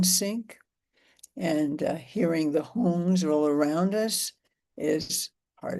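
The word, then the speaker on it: hong: The sound that we use is the sacred syllable home. Like h o n g.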